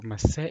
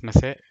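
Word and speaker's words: مساء: Hamza is, it's like you're pronouncing A with a sudden stop.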